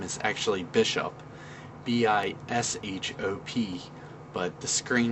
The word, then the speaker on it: Bl5H0P: So that's where I came up with the name as Bl5H0P, because all capital letters it looks like Bishop. So it's not like Bl5H0P or anything like that. It's pronounced Bishop, but that's where the